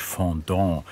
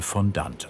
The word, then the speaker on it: Fondant: Eigentlich französisch Fondant, im Munde zergehend. Eine süße Zuckerpaste. Da die Gestaltung von Motivtorten über den englischsprachigen Raum nach Deutschland kam, wird er heute Fondant ausgesprochen.